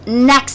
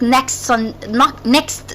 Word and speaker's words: next: I'll meet my friends next Sunday, not next Sunday. So I skip the T, and the last letter I pronounce in next is the X.